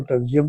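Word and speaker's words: pterygium: पी बाज का Sikes नहीं बोला जाता, साइलेंट होता है, बाज का बोला जाता है।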